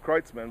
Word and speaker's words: Kreutzmann: He said, yeah, man, it's pronounced Kreutzmann, but yeah, that's me,